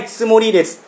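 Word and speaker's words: つもり: Các bạn lưu ý nhé, chữ âm này của chúng ta tsumori chúng ta đọc rất là nhẹ thôi.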